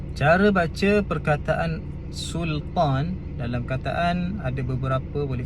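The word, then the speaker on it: Sulṭān: Kesilapan yang biasa dibuat adalah kebanyakannya suka menebalkan huruf lam. Sebab apa tebal? Biasanya sebab terikutlah dengan huruf tebal selepasnya.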